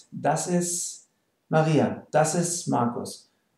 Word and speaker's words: ist: note how i pronounce ist maria this is marcos like i said usually we don't pronounce the t okay so um if